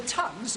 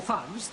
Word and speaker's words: thug: an ancient cult uh the tugs or thugs the pronunciation is immaterial used to whay travel